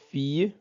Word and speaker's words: fille: le Son y bon i suivi de deux l se prononce i exemple une fille voilà la fille fille